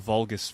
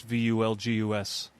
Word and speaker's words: Vulgus: Vulgus comes from the Latin term common people.